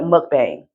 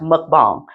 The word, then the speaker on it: mukbang: who made a twin and she's doing these mukbang videos. You know, don't know what mukbang video. Most people pronounce it like mukbang. That's not how you pronounce it. Okay, it's pronounced mukbang.